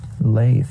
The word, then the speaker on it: Leiff: saying I'm an idiot Lafe how do you spell that le i FF so it looks like leaf if you look quickly yes lathe what kind